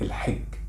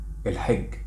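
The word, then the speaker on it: الحج: know it yet, that the letter Jim in Masri, they pronounce it Gim. So that means logically, Al-Hajj, Masri even they say it fast and they say it Al-Hajj. Al-Hajj.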